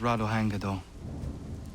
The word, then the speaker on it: Ratonhnhaké:ton: already anyway who are you my name is rado hangido right well i'm not even going to try and pronounce that now tell me why you're here